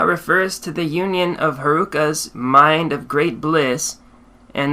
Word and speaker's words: Heruka: chakra sambar is Haruka the Sanskrit term Haruka is composed of three syllables he Ru and C he teaches of The